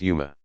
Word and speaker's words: Ummah: communities within the larger Ummah pronounced Yuma global community each with